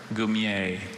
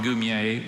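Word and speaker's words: goumier: Gumier.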